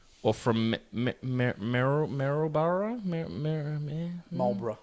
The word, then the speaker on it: Marlborough: from merrell barrow mirror marlborough marlborough yeah like the cigarettes is that how it's